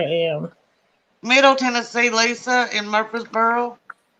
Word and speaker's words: Murfreesboro: What I are mean, these it's that second R that's confusing. It in like the free parts because it's usually like Murphy, Yeah, it's not Murphy. Mur and then free. Yeah. Murfreesboro.